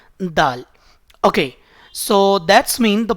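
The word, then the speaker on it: دال: So you can pronounce this letter by putting your tip of your tongue with the gums of your upper front two teeth. You can see in this second picture. So when you will touch your tip of your tongue with the gums of your upper front two teeth, so then you can pronounce this letter dal.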